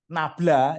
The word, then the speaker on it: nabla: Atau bisa kita tulis nabla, ya ini bacanya segitiga kebalik ini bacanya nabla.